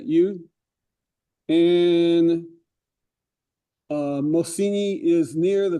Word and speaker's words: eau: water, bridge, Lincoln, in the French word for the water is EAU, how you pronounce that? U.